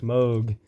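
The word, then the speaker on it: Mog: This is Moog, which yes, it's pronounced Moog.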